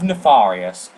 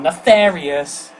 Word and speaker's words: Nefarious: and then we have nefarius or nefarious but I I pronounce of Nefarious cuz all the other languages pronounced him like that and that's how his name is spelled so deal with it